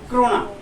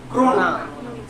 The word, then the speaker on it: क्रोना: दिनार और स्वीडन में क्रोना। कोरोना जो आया था वो नहीं, क्रोना शब्द का उच्चारण क्रोना।